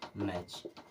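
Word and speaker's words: match: कैच क्या पढ़ेंगे कैच M eighty C एच टी सीच एक साथ में आया यानी कि टी खत्म अब इसे क्या पढ़ेंगे मैच इसे पढ़ना है मैच ये कंडीशन होती है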